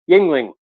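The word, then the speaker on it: Yuengling: pack of of uh Yingling see I said it right this time people are you okay Yingling I always say youngling because it pisses off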